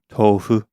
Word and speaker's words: tofu: Japanese, it would be pronounced more like tofu.